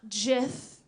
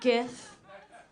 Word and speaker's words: GIF: bringing to the table I know it's pronounced jiff and not gif but for all you